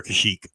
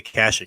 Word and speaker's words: Kashyyyk: how do you say Chuy's homeworld you say Kashuk or Kashyyyk Kashyyyk I say Kashyyyk to accepting clone war is Knights of the Old Republic all those games they say Kashuk and it drives me crazy but I think